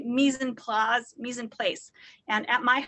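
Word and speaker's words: mise en place: misen plos it looks like mice and place pronounced mies and plaz is the french phrase and it means to put things in their place so i always say misen plaz misin place and at my house my kids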